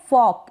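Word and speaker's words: fork: next है ये है फॉक इसको फॉक पढ़े या फॉक पढ़े फॉक इस तरीके से प्रोनाउंस कर दें यह ऊपर आर लगाया है इसका मतलब आधा इसका प्रोनंसिएशन हो रहा है फॉक फॉक का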